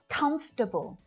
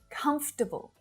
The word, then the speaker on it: comfortable: Comfortable. Comfortable. So it's not comfortable, but just comfortable.